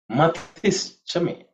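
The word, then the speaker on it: मतिश्च: Matis chame. Matis chame. Matis chame. Pronunciation wise, it should be simple. Simple word itself is matihi. The visarga has become ish.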